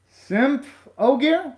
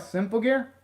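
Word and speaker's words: Symphogear: gonna be hard to change it and to pronounce okay sim okay simp oh gear like that symptom gear did i pronounce it right simple gear did i pronounce it right that time okay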